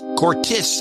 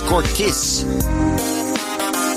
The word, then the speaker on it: Courtice: Courtice. You're pronouncing it wrong, John. It's Courtice. Not Courtice.